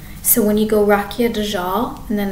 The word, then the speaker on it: Dajjal: So I've learned that D-A-J-J-A-L, Dajjal, and I'm not pronouncing it like it's someone.